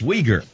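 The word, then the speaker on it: Uyghur: together no no no not uger we G okay now put the two together wolf 1 two three no not it's weager there are places they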